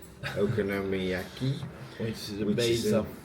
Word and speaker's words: okonomiyaki: Um we tasted our first Go on, you pronounce it. Okonomiyaki. Okonomiyaki.